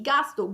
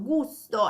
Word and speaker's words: gusto: E con una pronuncia appunto più inglese, quindi gasto, gusto, ecco la pronuncia italiana.